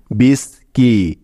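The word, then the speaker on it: biscuit: তাহলে সি ইউ আই মিলে হলো কি, বিস কি।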